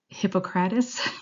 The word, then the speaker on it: Hippocrates: So Hippocrates, I believe is how it's pronounced, he actually was one of the first to discuss chemical imbalances within the body.